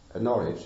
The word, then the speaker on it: Norwich: She's my favorite Christian mystic, and she lived in a town which is then and today called Norwich. It's Norwich, not Norwich. That's an American pronunciation.